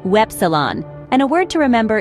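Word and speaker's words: Ypsilon: Y is pronounced Wepsilon, and a word to remember is Yoga, same as in English.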